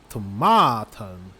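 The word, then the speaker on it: körsbärstomat: way but no because when we have a k with a front vowel front vowels then it becomes like a sh sound so that's why it's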